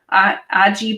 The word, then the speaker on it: Aji: And then there was a pineapple, Aji pineapple. Ahi pineapple. But it's spelled with a J, I suppose.